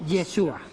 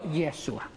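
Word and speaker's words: ישוע: Cómo se dice yeshua o yeshua Cómo se pronuncia yeshua yeshua HEB Salvador Salvador yeshua cuando se tradujo cuando se tradujo cuando se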